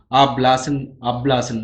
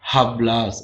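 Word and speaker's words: hablas: அதுதான் ஹெச்சுக்கு வந்து இப்போ அப்லாஸ்ன்னு தான் சொல்லுவோம் இதை. ஹப்லாஸ் அப்படின்னு ஹெச் யூஸ் பண்ணி சொல்லக்கூடாது. ஹெச் வர இடம் எல்லாமே ஹெச் சைலண்ட் ஆயிரும்.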